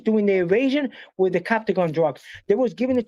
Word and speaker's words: Captagon: No, Captogan. It's called Captagon.